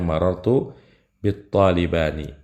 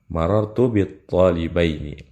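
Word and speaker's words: marartu bi ṭ-ṭālibayni: Jadi salah kalau kita bacanya marartu bit talibani. Yang benar marartu bit talibaini. Kemudian jamak mudzakkar salim ketika jar tandanya ya.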